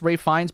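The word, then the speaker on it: Ralph Fiennes: I've only heard his name pronounced as Ray Fines by the Harry Potter producers, but he has a brother in acting Joseph.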